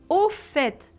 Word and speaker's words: au fait: Donc, première expression, c'est au fait. Oui. C'est bizarre qu'on prononce le T final, non?